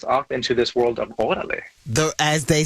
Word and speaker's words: órale: And that set us off into this world of órale.